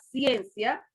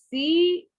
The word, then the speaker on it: ciencia: Usted cuando va a decir la palabra ciencia, usted no dice ciencia, usted dice ciencia, ciencia. O sea, la pronuncia de un solo golpe de voz, las dos vocales.